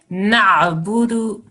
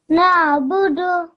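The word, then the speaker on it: نعبد: Na'budu. Na'budu. Good. Well done. Because you have to have the ayn sound in there.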